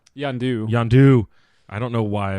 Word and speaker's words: Yondu: yonder yeah I've been messing up his name-o yonder yondu yondu I don't know why I've been messing